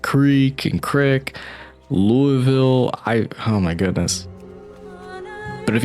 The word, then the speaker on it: Louisville: for instance, my corporal, he's from just outside of Louisville, Kentucky, or Louisville, but how he says it is really weird, or how you pronounce it. To me it is, because it's like, I would just say Louisville. Well, a true Kentuckian from that area, from I guess that area, would call it Louisville.